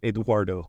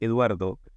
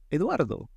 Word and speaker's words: Eduardo: I used to call myself Eduardo so that people could repeat my name in the U.S. It's actually Eduardo. And she said, oh, Eduardo.